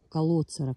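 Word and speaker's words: Калоцера: Называется он, не знаю, как ударение правильно, колоцера клейкая, либо колоцера клейкая. Я так подозреваю, поскольку это латинский язык, то, скорее всего, ударение будет на О, колоцера клейкая.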